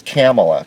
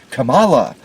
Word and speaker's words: Kamala: i'm sorry to me it says camella kamala harris but she pronounces it kamala because you see liberal